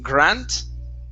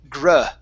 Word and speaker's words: grunt: Okay, it sounded like you were using an A sound, saying grant, says grant. Okay, and langs. Okay, so let's use an sound here. Grunt.